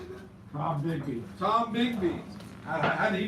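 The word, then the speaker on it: Tombigbee: Tom Bigby.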